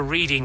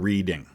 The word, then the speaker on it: Reading: Nobody who lives there calls the town Reading. Reading is how it's spelled. And if you're running this through an AI, it's going to pronounce it that way.